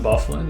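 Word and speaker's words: Byfuglien: Also, another one is Dustin by Fuglian. I can never say his name. Dustin Bufflin, yeah.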